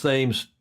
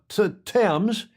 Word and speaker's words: Thames: now, but he's saying, is it pronounced, because I just pronounced the word for the street, Thames, Thames. And in Newport, Rhode Island, it is pronounced Thames and has been since the 1700s. Really? Yeah. And of course, it was originally pronounced Thames. All the Brits on here will correct me if I'm wrong, but originally it was pronounced Thames in the UK until one of your kings came along.